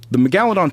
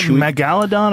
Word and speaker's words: megalodon: It depends. Your emphasis can be on a different syllable. Okay. It's both. It's like, not like nuclear and nuclear? No, because it doesn't have two U's. but it's spelled the same, but it's like Dimetrodon or Dimetrodon.